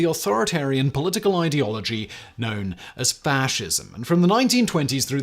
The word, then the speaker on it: fasces: gain the same notoriety as the other prominent fascist symbol, the swastika? The Fasces, or more correctly pronounced fascis, means bundle in Latin and is